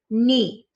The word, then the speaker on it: knee: our focus is um spell kn like a nest e like a leaf and what word knee again our focus is